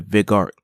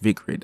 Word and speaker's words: Vigrid: The chapter opens with Enzo explaining to Bayonetta that he found a lead in the Vigart that he found a lead in Vigrid. Yes, it's pronounced Vigrid.